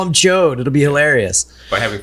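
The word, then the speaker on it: Ch'od: the big lizard character is Cho and not chod CH yes are you sure that's what they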